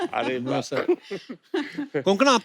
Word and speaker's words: कोंकणा: मिलते हैं तो वो आपका नाम सही से प्रोनाउंस करते हैं। और आई एम श्योर अगर आपको कोई पंजाबी मिले, वो हमेशा कंकना बोलेगा। कंकना, कोंकणा, क्यों साउथ में तो कणकणा नहीं भी बोले।